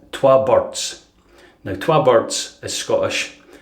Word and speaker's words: Twa Burds: See, they spell it with a U. Burds. Burds. You're getting a good Scottish lesson here. Twa Burds. See, in Glasgow, in Glasgow, they speak like that.